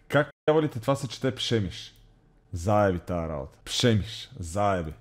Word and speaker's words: Przemyśl: w pobliżu miasta Как казвалите това се чете Пшемиш?